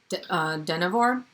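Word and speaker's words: Dynevor: Denevor.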